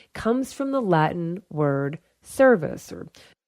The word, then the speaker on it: cervus: Of course, there were sound changes that took place, so we don't use the hard K sound anymore for that word and for the words that came from it.